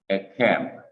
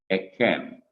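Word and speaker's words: ־כֶם: Second person plural masculine is the simple shua, ek, the kaf, the segol, and the mem, pronounced ekem, ekem, E-K-H-E-M, ekem, meaning your, plural.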